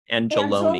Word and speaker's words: Angel One: Number one, Glenn Iverson reminds us that, of course, Angel One is actually pronounced Angeloni.